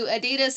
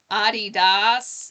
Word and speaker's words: Adidas: So Adidas is the more proper, correct way to say it. I'd never heard it said that way until I was a few years ago.